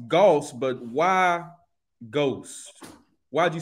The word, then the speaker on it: Gauxst: you this it's pronounced Goss but why ghost why'd you spell it like ghosts is it spelled like ghosts yeah g-a-dos I thought the aux make an o sound oh really see yeah